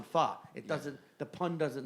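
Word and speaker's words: phở: ] morons obviously and they think f is pronounced foe so they they they're 9021 foe right get it it's like no that's 9021 fa it doesn't the pun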